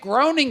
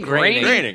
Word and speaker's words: Groening: You mispronounced his name, which is insulting to him I enough. Is it Groening? Graining. Graining. Right. Well, tell Matt Graining to go fuck himself.